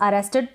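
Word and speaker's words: arrested: Next है अरेस्टेड, इसको हम अरेस्टेड पढ़ रहे हैं। ये जो ए है इसको अ पढ़ रहे हैं, डबल आर का र बन गया।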